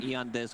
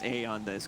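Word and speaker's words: Aeon Disk: removed from the game e on this pronounced a on this go okay smoke around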